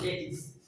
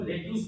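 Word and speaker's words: lettuce: इसका right pronunciation होगा लेटिस. बहुत सारे लोग इसको लेट्यूस बोल लेता है, तो वो एक रॉन्ग प्रोनाउंसिएशन है. इसका राइट प्रोनाउंसिएशन होगा लेटिस. और यहाँ पर देखेंगे TOMATO.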